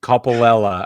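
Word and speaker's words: Coppolella: something else just kidding Coppola I believe is how you pronounce it he has been reinstated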